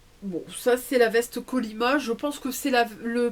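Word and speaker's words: Kolyma: Alors, Kolima, ça s'écrit K-O-L-Y-M-A.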